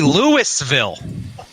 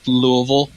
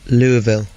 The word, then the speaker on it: Louisville: lives here just says Louisville Louisville what's that unto this word you don't pronounce the S oh so it's Louisville okay that's from how